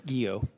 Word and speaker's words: Guillot: United States Southern command General Gregory gillo how do you pronounce that chairman it's guo guo thank you all right